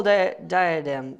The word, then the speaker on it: diadem: which has a royal diadem." Man, what? Diadem, that's how you say it? Yes, success.